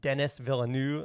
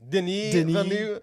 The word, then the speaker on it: Denis Villeneuve: I think I showed my lack of cultural relevance to you, and I called him Denis Villeneuve. I think it's Denis Villeneuve. Yeah. So I got the complicated French-Canadian name wrong.